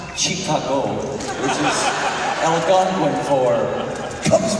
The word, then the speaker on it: Chicago: Actually, it's pronounced Chicago, which is Algonquin for Cubs win, Cubs win.